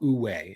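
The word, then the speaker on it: wu wei: and there's a Chinese concept called UWE it's actually spelled like woo way and it's flow it's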